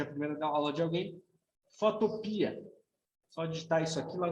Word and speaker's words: Photopea: É assim que se escreve. Com PH, né? Pia. Só para recapitular aí, caso seja a primeira aula de alguém, Photopea.